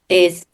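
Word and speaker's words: 艾: So moxibustion in Chinese, the pronunciation is I. So I is the same pronunciation as love.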